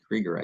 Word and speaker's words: Krueger: is spelled like Alan Krueger's name but she pronounced a creger I think the German Way and um she's